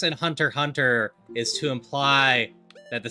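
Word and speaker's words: Hunter × Hunter: The developers have said so, even though for Hunter Hunter and other stuff, you're not actually supposed to pronounce the X. It's not Hunter X hunter or Hunter cross Hunter.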